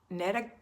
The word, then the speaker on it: Netta: Netta Gulchin, that's how you say her name, Netta. I always called her Nita, and it's always Netta.